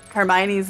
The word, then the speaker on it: Hermione: Like Crumb pronounces Hermione's name like that. And she's like, no, Hermione, and then like completely clears up the name debacle.